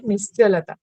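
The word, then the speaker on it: निश्चलता: Here, Cha will be pronounced, but it is written according to the Sanskrit meaning, it is C is written, but you have to pronounce it Nischalata.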